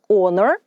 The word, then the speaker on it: honor: honesty чесність hest чесний Honor честь honorable порядний благородний Увага друзі літера H на початку цих слів не вимовляється ця літера німа і вона не звучить bravery - хоробрість Brave